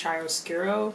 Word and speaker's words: chiaroscuro: And that's something that I didn't know that, well, I knew that there's like the concept of, I think it's chiaroscuro is how you pronounce it, in painting, but I had never really heard anything about it in the sense of pattern making.